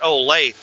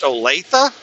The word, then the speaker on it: Olathe: And I looked at him, and I said, is it pronounced Olathe? He said, yeah. He said, most people pronounce it Olathe. They mispronounce it.